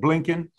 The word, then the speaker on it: Blinken: Meaning, yesterday, I think 60 Minutes was done, a few days ago with Anthony Blinken? I'm pronouncing his name wrong. Blinken.